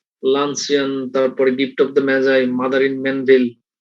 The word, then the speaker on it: Magi: Gift of দ্য ম্যাজাই বানান কিন্তু MAGI, এটার উচ্চারণ হলো ম্যাজাই, আবার তোমরা ভুলে অন্য কিছু উচ্চারণ করে নাও।